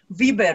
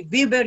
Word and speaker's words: Viber: are virtuoso in music viber we say viver you say viber but is the same no but it depends